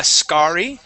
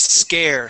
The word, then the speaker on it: scare: reat said this word it is not uh scar okay it is scare scary okay long a sound nice job uh let's